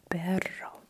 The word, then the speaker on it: perro: Especially when you have the doble, uh double R. It's it should be Okay? Perro, perro. Okay, now let's do quick practice.